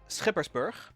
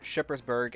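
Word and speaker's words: Schippersburg: then our fair city now in dutch we say skippersburg with that lovely guttural sound in order to preserve your sanity i've heard most people just say shippersburg and that is perfectly fine i would say just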